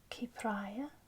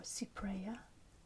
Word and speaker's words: Cypraea: So that's going to be Cypraea or Cypraea, depending on your choice of pronunciation.